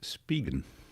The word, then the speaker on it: Spigen: And in order to be pedantic, uh AI says it's pronounced Spigen. All right. As in speed and began Span Sounds good,